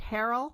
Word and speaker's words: Harrell: Harrell? Is that how you Harrell, pronounce it?